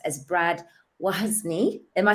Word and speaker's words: Wozny: name is pronounced as Brad wozni am I saying that right yeah like why is me yeah what's my name and he's the host